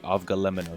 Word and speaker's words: avgolemono: day let's first point out that I've been pronouncing this wrong my whole life it's actually of GLE M&O soup so I'm gonna be making this whole